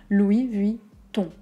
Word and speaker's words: Louis Vuitton: plantant deux mots notamment louis vuitton on a une voyelle nasale donc je vous explique aux airs du nez tous vers l'avant la langue vers l'arrière donc le son se fait vers l'avant mais la langue est reculée louis vuitton ont donc